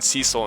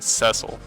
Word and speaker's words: Cecil: anyways you know Cil I'm going to really switch in between Cecil and cesil just cuz I grown up with Cecil as the pronunciation oh you have the